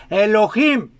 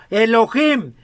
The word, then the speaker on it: Elohim: Nuestro Padre es Dios, entre paréntesis, Elohim.